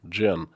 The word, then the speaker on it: Jen: Okay, it's the English female, Jen. So the J is pronounced as J, not as Y.